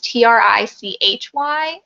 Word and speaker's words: Trichy: Okay, so my platform is It Shouldn't Be Tricky, and tricky is spelled differently. It's Trichy.